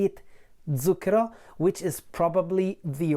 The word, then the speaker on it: Zucchero: feel the difference is zukra the way I say it with the Z voiced Z whereas I think that